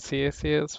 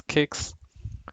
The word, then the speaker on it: CICS: parts of the world, they pronounce it as CSS, few they call it as CICS. So it depends based on the region you call it differently.